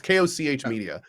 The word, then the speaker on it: Koch Media: It's Koch Media.